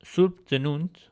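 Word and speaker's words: Սուրբ Ծնունդ: uh, but for example, the word for Holy Birth, which stands for Christmas, in Armenian is Surb Dznunt, which is read as Surb Dznunt, where you have the ut sound, the uh, between the letter dza and nu.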